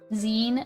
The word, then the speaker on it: zine: Zine, like magazine.